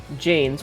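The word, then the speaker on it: Jain: Jane Janes pronounced Jane sweep in front of them to prevent themselves from accidentally stepping on animals.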